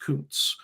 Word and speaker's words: Kuntz: What I will say with Zachary, I believe it's pronounced Kuntz.